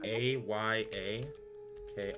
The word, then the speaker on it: Ayako: Her name is Ayako. Ayako? Ayako. It's spelled A-Y-A-K-O.